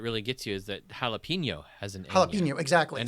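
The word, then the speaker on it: jalapeño: the one that really gets you is that jalapeno has an jalapeno exactly and it's another pepper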